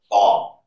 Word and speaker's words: bomb: Rule number one, the letter B is not pronounced after the letter M at the end of a word. For example, bomb, tune, comb, thumb, climb, lamb.